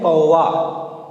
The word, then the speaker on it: कौवा: हम लोग बोलते हैं कौवा, उच्चारण में क्या आता है वाह, जबकि वास्तव में लिखा क्या जाता है आ।